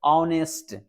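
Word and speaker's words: honest: मैं बता दूं इस एच से हमें कोई मतलब नहीं है इसके प्रोनाउंस से मतलब है ऑनेस्ट इसको क्या पढ़ते हैं इसको पढ़ते हैं ऑनेस्ट इस टाइप से पढ़ते हैं बच्चों नेस्ट अ की उच्चारण हो रहा है जो कि हमारा वल्स है बच्चों इसलिए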